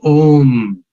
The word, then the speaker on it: Om: And when you say Om, that Om, I believe, has got three syllables. A, U, Ma.